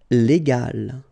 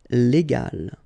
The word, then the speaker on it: légal: the vowel A, okay, and between the two you get this G letter, okay, and so you will pronounce this word légal, okay, légal.